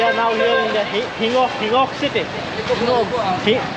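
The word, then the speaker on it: Gingoog: Pronounce it properly. Hingok? Oh, but it's written there as Jingok city. What's that? So I don't know. This is called Jingok city eastbound terminal. But these guys are saying something else. I don't know. Maybe that's how they pronounce.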